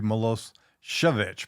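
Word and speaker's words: Milošević: Technically, it would be Malos Chvich, but no one ever pronounces that way. Melissovich.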